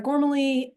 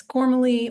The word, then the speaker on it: Gormally: Um, uh, there is a family controversy about how to pronounce my last name. It's fine if it's Gormaly or Gormali. It's Irish and some parts of my family pronounce it one way and some parts pronounce it another way and usually nobody can spell it.